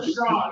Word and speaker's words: Sean: So Sean, it's pronounced Sean, S-E-A-N, period, Oh.